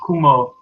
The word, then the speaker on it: koe: Cow is pronounced ku in Dutch.